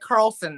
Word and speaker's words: Carlson: she mentioned uh Carl is it Carlton or Carlson I think we're at Carlson now Carlson Carlson because